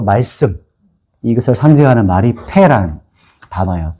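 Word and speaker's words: פא: 그래서 말이기도 하나님은 또 말씀 이것을 상징하는 말이 패라는 단어예요.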